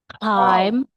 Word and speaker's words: climb: Climb.